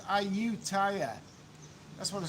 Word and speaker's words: Ayutthaya: It is pronounced Ayutthaya.